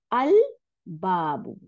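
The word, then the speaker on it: الباب: গুলোর সামনে আল দিলে, যেন আল বাবু, বা, আল বাবু, আব বললাম না, হ্যাঁ, লাম গিয়ে বাকে সাদ্দা দেয়নি, আল বাবু, তাই না?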